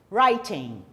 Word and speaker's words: writing: Lembrando, novamente, nada de pronunciar o G. Writing.